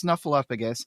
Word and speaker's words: Snuffleupagus: she has appeared on Sesame Street as Alice Snuffleupagus and most important to this podcast she was